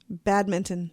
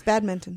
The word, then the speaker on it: badminton: that one more time badminton you say it with the n in there I just say bad Mitten yeah you say it wrong I probably do it's bad Mitten and did you know